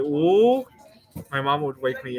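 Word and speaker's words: 五: Oh, in Chinese, five is pronounced wu, and it's a kind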